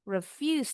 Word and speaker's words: refuse: The car may refuse to start. To-nya bunyinya jadi kalau to berdiri sendiri bunyinya tu. Tapi kalau sudah dalam kalimat bunyinya te. Refuse s-nya seperti Z.